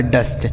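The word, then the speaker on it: dust: और टी से ट हो गया लिखा है डस्ट यानी अगर किसी भी दो व्यंजन के बीच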